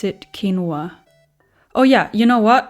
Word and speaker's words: quinoa: I mean, it is um a gr it is a Latin American word. They would call it kinoa.